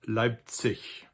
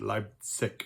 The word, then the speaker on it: Leipzig: Most Germans would pronounce it Leipzig. People from the more southern parts of Germany might pronounce it Leipzig with a hard G in the end.